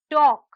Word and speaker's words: talk: letter l is silent next word talk talk talk here the letter l is silent the next word is